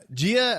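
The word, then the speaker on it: Jiah: i had to look up uh how to pronounce it properly yeah gia i hope i'm doing an excellent job pronouncing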